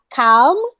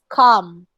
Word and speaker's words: calm: um it's not again let me remind you again it's not calm it's calm okay i feel calm today